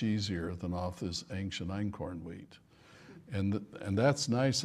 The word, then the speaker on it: Einkorn: wheat by the way in corn is spelled einin which in German means one EIN that I fear f sex even saying yeah I is one and corn is spelled k o RN I think that's how I used to spell it in school well sounds like that corn so in corn means